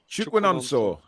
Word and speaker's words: Chukwunonso: Do you want to pronounce his first name? Chukwunonso.